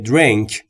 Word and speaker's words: drink: Allow me to buy you a drink. Drink یعنی نوشیدنی. تلفظش رو دقت بفرمایید. درینگ نیست یا درینگ نیست. Drink. Drink. بین دی و آر هیچ صدایی وجود نداره. ما هم صدایی اضافه نمی کنیم.